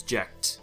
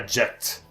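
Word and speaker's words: Jecht: way his name is jacked oh yeah his name is yeah jet I feel like I just I just want pronounce as jet but his name is spelled je CH T and you know Tifa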